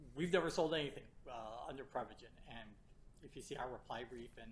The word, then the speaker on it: Prevagen: under your name the prep how do you pronounce it prep again Prevagen they were selling part yeah they were selling